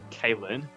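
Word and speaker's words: Caelin: If I think about the time I passed out and say and sorry, apparently it's Kalin. Um I'm just now learning of of the correct pronunciation of that.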